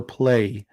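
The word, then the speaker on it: Gunpla: pla like pla or play with Y I mean I know it's spelled g-u-n-p-l-a but is it pronounced play like play with a y or play with a plot okay pla there we go um so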